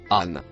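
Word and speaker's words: عن: Le premier mot marron, se prononce « an ».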